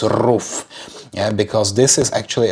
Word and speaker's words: RUF: but the car itself it's roof I don't know if I am calling it correctly some would say it's rough but in German it's roof yeah because this is